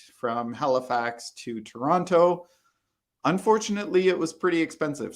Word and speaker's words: Toronto: also reduced speech right we spell it toronto so i'll write it here in the comments toronto but listen to the way i say it toronto toronto i don't say toronto i say toronto and some people say